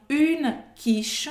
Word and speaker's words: quiche: Une quiche. Une quiche. Une quiche. A pronúncia também vai acabar no sh.